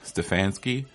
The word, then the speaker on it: Stefanski: about Cleveland's hiring of their new head coach Stefanski that's how you pronounce it yeah so now we're gonna get